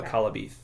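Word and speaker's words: Akallabêth: He really loved the Welsh language, and for them, that E with the hat on it, as I understand it, made a long E sound. So Akalabeth is how you'd say that.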